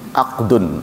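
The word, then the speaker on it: عقد: Diucapkannya mirip ya. Ahdun pakai H, ahdun, akdun.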